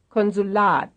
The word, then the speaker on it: Konsulat: Streichhölzer, Streichhölzer, 37, Here is a three-syllable word with stress on the last syllable. Konsulat, Konsulat, Konsulat, 38, wahrscheinlich, Here's another one having its stress on the second to last syllable.